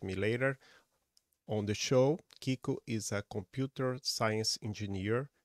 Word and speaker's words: Kiko: uh right uh so my name is uh Kiko I think that was right H